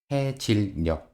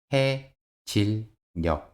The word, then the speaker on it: 해 질 녘: Como puede ver, la consonante final 'ㅋ' se pronuncia como 'ㄱ'. Por favor, escuche atentamente. ‘해 질 녘 – 해 질 녘’ Escuche atentamente y hable.